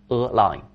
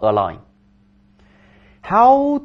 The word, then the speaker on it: align: 使一致，一条线上 A line 读音也一样，对吧 A lineHow did you align strategies throughout the company?